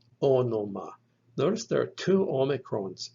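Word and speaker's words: ὄνομα: And it is pronounced onoma, onoma. Notice there are two omicrons in this word. The first letter and the third letter in the word are omicrons. They're both pronounced O, onoma, onoma.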